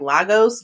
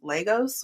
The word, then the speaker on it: Lagos: in germany and lagos the fact that they say it like lagos gets on my nerves because it's legos which is in nigeria but tyler seems to